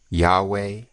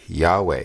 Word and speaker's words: Yahweh: here them calling it yahweh which like you said is only two syllables i don't i don't